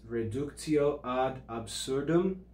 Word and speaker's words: reductio ad absurdum: your definitions that you should know how to pronounce it's reductio ad absurdum that's under that indirect demonstration definition and then